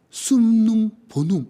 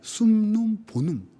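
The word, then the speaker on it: summum bonum: 조금 공부하면요 라틴어로 숨눔 보눔 이렇게 얘기하더라고요. 발음이 희한해요. 숨눔 보눔 이렇게 하죠.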